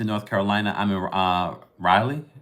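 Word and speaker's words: Raleigh: Carolina I'm in uh Riley is how you pronounce it right Riley stay tuned look we're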